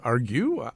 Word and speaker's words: Argue: Is it Darcy James Argue? Argue. No, it's Argue. Argue, just like what we do. Just like Argue. That's like Argue.